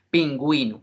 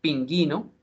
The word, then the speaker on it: pingüino: su Merced diio excelente pingüino no se no se pronunciaría pinguino sino pingüino pero si usted no